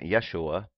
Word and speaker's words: Yeshua: how Yeshua became Jesus the first letter in the name Yeshua is the ODE okay right here yote represents the letter Y sound in Hebrew many names in the